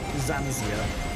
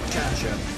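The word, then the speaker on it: xianxia: There's also Zanzia, or I can't remember how to pronounce it. X-A-N-X-I-A. X-I-A, yeah. If there's magic, okay. Is that Chansha?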